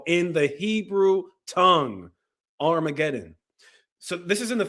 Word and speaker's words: Armageddon: It's called Armageddon. Not Harmagawana, not iguana.